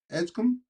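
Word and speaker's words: Edgecombe: Um, how do you pronounce this? Edgecom. Edgecom.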